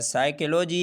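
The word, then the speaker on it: psychology: तो आप यहाँ पर देख सकते हैं एस से पहले फिर पी आया है और हमने पी का प्रोनाउंसिएशन नहीं किया, इसलिए कि रूल है एस से पहले पी आ जाए तो पी साइलेंट रहता है।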